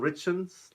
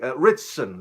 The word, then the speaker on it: Ritchson: get let me see my notes here Alan Richards Richards trying to get that pronounced incorrectly here I don't want to butcher his name incorrectly Ritchson there you go now for those of us